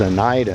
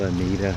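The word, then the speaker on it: Oneida: I told them it is Anaida, not Anita.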